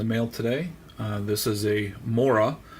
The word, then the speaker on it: Morakniv: That's sort of what the Americans tend to call it, Mora. I did go online and see how the Swedish, where it's made, pronounce it, and they pronounce it Morakniv.